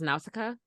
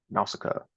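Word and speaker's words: Nausicaä: I think it's pronounced Nausicaa. Okay, I see this on this. It's like that's good. Top Studio Ghibli movie things. Yeah. Oh, I'm on a Studio Ghibli Reddit. Okay, yeah, Nausicaa.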